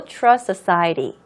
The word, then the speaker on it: trust society: 자, 여러분 여기에서 trust society라고 발음하면은 SS 중간에 T 발음하려면 좀 힘들잖아요. 그래서 T 발음 조금 약화시켜서 발음해도 상관없습니다. low trust society라고 해도 이해하는데 전혀 문제 없으니까 T 발음 너무 내려고 애쓰지 않으셔도 괜찮다고 말씀드리는 거예요.